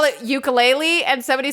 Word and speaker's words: ukulele: with the pronunciation so like uku is flee and lele is to jump so it's like a